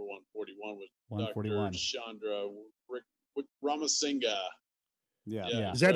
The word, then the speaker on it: Wickramasinghe: last part of his name, is it actually like two syllables, Singa? Is that Singa? Yeah, we asked him. Singa, yeah. Yeah, I asked him before Singa. We started to make sure. I was like, I want to make sure I'm saying, and he said, Wickramasinghe is how he pronounced it.